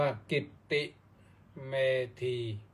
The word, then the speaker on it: กิตติเมธี: Facebook ที่ กิตติ เมธี T K I dou m E T E อ่าน ว่า กิตติ เมธี แปลก ไป จาก เมื่อ